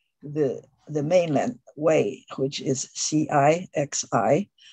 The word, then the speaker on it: Cixi: mainland way, which is C-I-X-I. C means ci, so it's a ci, and the X means xi, so it's xi.